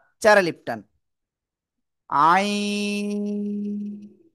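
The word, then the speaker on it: عين: বলে একেকজন তো এটা না এটা আমরা সঠিকভাবে উচ্চারণ করব ইনশাআল্লাহ আইন চার আলিফ টান আইন সবাই একসাথে জোরে জোরে বলেন আইন মাশাল্লাহ আমরা এটা ক্লিয়ার হয়ে গেছি।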